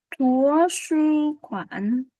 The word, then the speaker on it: 图书馆: 好，那么红荣你来读第一个流水香，留学生，流水声，好，这个呢图书馆，图书馆，图书馆， cái âm này là âm u em nhé, em âm u ha, chúng ta sẽ đọc là thú, thú không phải thúa ha, thú su quản, 好，你来读一下，